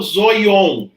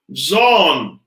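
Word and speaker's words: ζῷον: Mas eu não falo zoion. Eu falo zon. Porque esse iota não se pronuncia, não obstante ele ser transcrito. Porque é esse iota subscrito que não é pronunciado, que foi posto aqui.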